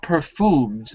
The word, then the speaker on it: perfumed: with with with with any kind of a u word there's always an e or a y before the U so not perfumed but perfumed perfumed perfume very good that's